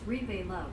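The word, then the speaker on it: Reveluv: but do you've been oh he's pronounced as repay love means love red velvet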